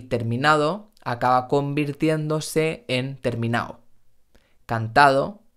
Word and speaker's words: terminado: vamos a la de he terminado terminado no estoy diciendo terminado sino terminado por eso muchas veces el participio en español pierde la d y terminado acaba convirtiéndose en terminado